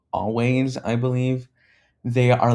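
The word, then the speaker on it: Alvvays: It's spelled with like a L va ys, but it's pronounced always.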